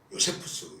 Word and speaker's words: 요세푸스: 흔히 유대 역사가라고 말하는 요세푸스 혹은 유세비우스라고도 얘기하는데 또 조세푸스라고도 발음합니다.